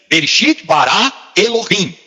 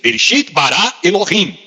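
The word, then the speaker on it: בראשית ברא אלהים: No hebraico, essa primeira expressão se pronuncia assim: Bereshit bara Elohim. No princípio criou Deus. Bereshit bara Elohim.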